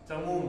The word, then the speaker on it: चमू: महतीम बहुत बडी खूपशा चमू चमू म्हणजे सेना ठीक आहे चमू म्हणजे दीर्घ उकार आहे महतीम मध्ये दीर्घ इकार आहे ज्यांचा दीर्घ उच्चारण आला पाहिजे व्युढाम व्युढा म्हणजे तेच